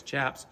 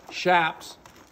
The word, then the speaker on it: chaps: And what's real common is people calling Chaps, Chaps. It's spelled C-H-A-P, which a lot of people translate as Chaps, but the C soft because it's Spanish. And it's short for chaparreros.